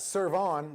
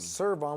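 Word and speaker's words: Cervon: Next up, we got Serve On, which I'm pretty sure is how it's said. Serve On with a C, E-R-V-O-N.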